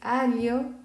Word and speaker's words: aglio: Y lo vamos a pronunciar para nosotros que somos principiantes como li, ¿ok? Entonces es aglio, figlio, lielo.